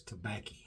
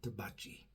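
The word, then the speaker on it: Tabacchi: yesterday with the uh tobacci I did learn from one of my viewers the correct way to pronounce that is tabaki not tabachi the way I said it's an Italian thing so anyway we're going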